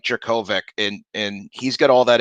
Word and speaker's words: Jurkovec: They Phil Jerkovic, Jurkovec, that's how you pronounce it, from Yeah, the Notre Notre Dame.